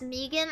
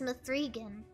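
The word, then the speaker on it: M3GAN: watched that movie and it was awful it's pronounced Megan I thought it was pronounced mathrigan Megan watch a long win uh now right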